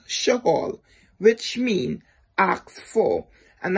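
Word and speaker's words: שאול: Saul, in Hebrew, his name is pronounced Shaul, which means asked for.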